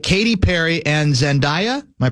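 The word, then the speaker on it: Zendaya: Darlings there's your literation like Katie Perry and zandia am I pronouncing that right yes zandia Z have taken to the Bold in the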